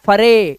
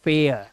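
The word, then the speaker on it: fair: It's where and नॉट फरे। इट्स फेयर।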